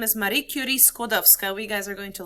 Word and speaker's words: Skłodowska: Skłodowska. Skłodowska. Skłodowska. Skłodowska. Gosh, I hope you guys remember this because in the video, every video that you watch about Marie Curie Skłodowska, they pronounce her name horribly.